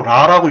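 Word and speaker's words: רע: 여러분, 이 환난이요, 히브리어로 라라고 읽습니다.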